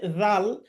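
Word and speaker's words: ذ: সা হাদ্দাসা তারপরে নেক্স হরফ হচ্ছে জাল জাল হরফটাছা যেভাবে উচ্চারণ করেছি আমরা সেভাবে উচ্চারণ করতে হবে যেহবার আগা সামনের উপরের দাঁতের সাথে লাগ উচ্চারণ হবে জাল জের জি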